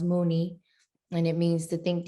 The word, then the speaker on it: Muni: across this word um in filipinos it's actually pronounced mooney and it means to think deeply from within